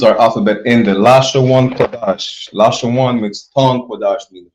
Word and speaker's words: Qadash: That's how you know it's Qadash and not Kodesh.